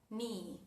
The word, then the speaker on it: knee: Bueno, la excepción es cuando tenemos la K al inicio de una palabra seguida por la letra N. Por ejemplo, en la palabra knee o en la palabra no, o en la palabra night. Night de caballero, no de noche.